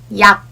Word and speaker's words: 약: For example, if you pronounce yak using English sound, it would sound like yak or yak. Literally sounds like yak. However, in Korean, we say yak. There's no plosive sound at the end and it's almost silent.